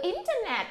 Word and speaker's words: internet: Rồi, từ internet thì chúng ta sẽ nhấn ở chỗ chữ in.